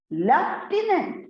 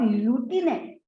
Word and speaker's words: lieutenant: Lieutenant, not lieutenant. I think very clear up to this particular point, there is no doubt about it. So in British English, we pronounce it as lieutenant. But on the other hand, if we look at the American English, it's lieutenant.